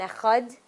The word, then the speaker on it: Echad: and the dalid and echad? So that's why when people say Shema Yisrael Hashem Elokeinu Hashem Echad, because we want to pronounce that dalid, that aid.